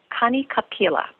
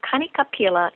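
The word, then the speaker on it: Kanikapila: in the evenings they have a thing called K capila it's three words it's spelled k a n i next word k a next word p is in Paul i l a and Kik capila in Hawaiian means let's make music each night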